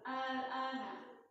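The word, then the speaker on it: آلآن: Yang panjang tuh hamzah yang pertama. Al-ana. Kalau yang kedua 2 harokat aja. Yang pertamanya 6 harokat.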